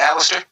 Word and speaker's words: Aleister: How was that working with like Aleister Crow or how did I pronounce it right? I think I might have pronounced his first name wrong, but Aleister No, Crow. you said it right, Alistair.